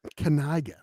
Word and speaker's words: Kaniga: It's pronounced Kaniga. The kid has said it himself. It's Kaniga.